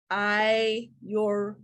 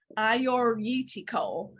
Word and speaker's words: Agiorgitiko: It's a 2019 Flowers, and it's Agiorgitiko. So the G's are kind of silent.